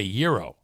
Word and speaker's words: gyro: or do you say gyro I'm pretty sure that food is called a Euro like that's how it's pronounced uh Chris says Kenny